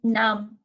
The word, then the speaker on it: numb: the next one is num num we don't really pronounce B so because it's it comes after M and M is also consonant so we just use num now now I'm annoyed